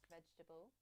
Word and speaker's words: vegetable: Vegetable. Okay, let's give that another go. Vegetable. Vegetable. Vegetable. Vegetable. Vegetable. Vegetable. Vegetable. Vegetable. It's not vegetable, but vegetable. Vegetable. 3 syllables only.